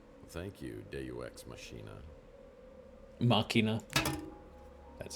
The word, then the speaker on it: Machina: Machina. That's how you pronounce it.